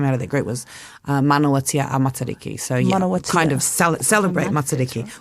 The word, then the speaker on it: Manawatia a Matariki: You would say manawatia a Matariki. A Matariki. Manawatia a Matariki. And I'm pronouncing that right?